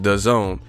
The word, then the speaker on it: DAZN: current monthly rate for the zone pronounced the zone the goal is to